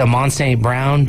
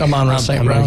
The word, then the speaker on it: Amon-Ra St. Brown: And it's awesome when, was it Amon St. Brown? Is that how it's said? Amon-Ra St. Brown.